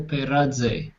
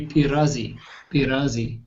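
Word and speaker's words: πειράζει: Peraze or Peraze, depending on whether you pronounce the zeta as a DZ or just as a Z. Peraze or Peradze.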